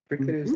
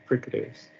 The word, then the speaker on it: fricatives: Fricatives. okay, so how many syllables you got now? Now, 1 and something. Fricatives. So we agree there should be 3.